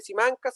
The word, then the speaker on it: Simancas: Y en su momento, antes de estar en Sevilla, estaba en el archivo de Simán, se escribe Simancas, es como Simanzas, en la parte sur